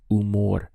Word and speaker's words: humor: have buen followed by umor we start the pronunciation from here u because the h is silent so estoy de buen